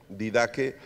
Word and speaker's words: Didache: La didaque se escribe didache, didaque.